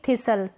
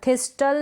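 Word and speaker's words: thistle: यहाँ पर ये स्पेलिंग है, इसको हम पढ़ेंगे थिसल, थिस्टल नहीं पढ़ेंगे, टी साइलेंट है ना, तो थिसल, क्या पढ़ेंगे, थिसल।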